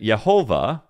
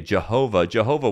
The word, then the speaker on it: Jehovah: So they didn't pronounce it Yehovah, because that W with the V sound, Yehovah. No, instead, what they did is they would still pronounce it as Adonai. It was just a visual reminder to say Adonai.